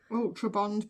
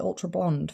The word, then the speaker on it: Ultra Bond: Have you noticed I finally figured out how to say it? Ultra Bond Platinum. I've not called it Ultra Blonde for ages.